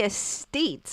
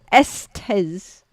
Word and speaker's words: Estes: I always say estates. I don't know why. Or estates. I don't know why. Estes. Because it looks like a state to me, even though that's not how it's spelled.